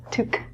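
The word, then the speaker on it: tuque: is a winter hat the pronunciation of this word is different than the spelling because it's French this is spelt - took took the word itself qu e is a French spelling so anytime that you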